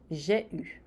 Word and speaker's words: j'ai eu: E a segunda parte do verbo, o participe passé, vai ser a vogal E a vogal U, que vai fazer o som U. Biquinho, gente. U. Eu tive. J'ai eu.